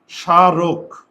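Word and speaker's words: স্মারক: আগে দেখো এখানে দুইটা সিলেবল আছে। সিলেবল। সিলেবল মানে শব্দের পার্ট। শব্দের অংশ। সিলেবল হচ্ছে কি? শব্দের পার্ট বা শব্দের অংশ। তাহলে এখানে দুইটা সিলেবল আছে। সা রোক। দেখোতো উচ্চারণ লেখার সময় দন্তস্য তালব্যস হয়ে যায়। আর ওই ম ফলার কারণে প্রথম বর্ণের উপর চন্দ্রবিন্দু।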